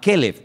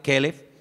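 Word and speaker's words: כלב: el nombre del perro se pronuncia diferente Pero se escribe igual calb es para el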